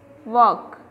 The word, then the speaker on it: walk: The first one walk, here L is silent.